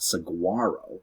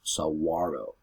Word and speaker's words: Saguaro: spelling that means it tells you how to pronounce it it's not so guaro it's Saguaro also right here that little circle that stands